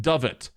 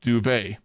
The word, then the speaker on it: duvet: refuse to pronounce duvet correctly and will instead pronounce it doet because doet is way more fun to say even though I know that it's pronounced duvet I am going to die on this hill